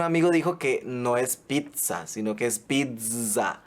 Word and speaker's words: pizza: no adaptado al español lo ideal es pronunciarlo con una t y una zeta como en italiano o sea pizza y su escritura es